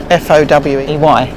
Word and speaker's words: Fowey: Fowey is spelt F-O-W-E-Y. So Fowey.